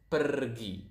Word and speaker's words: pergi: If you guys speak Spanish out there, I think you will notice that Indonesian pronounce the R quite similar to the Spanish language. To the Spanish. So it's pergi.